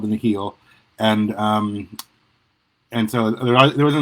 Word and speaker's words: Nihil: It's Nihil, clearly taken from the word like nihilistic or annihilate. I've been calling them the Nihil.